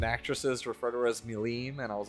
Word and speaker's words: Milim: He was like, it's not pronounced Milam, it's Demon Lord Milim.